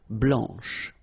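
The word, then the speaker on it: blanche: and then blanch okay remember when you combine this C you get the sound sh blanch okay so BL blanch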